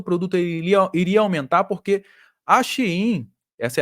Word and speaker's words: Shein: O pessoal fala Shein é a pronúncia certa, mas para o pessoal identificar da Shein, né?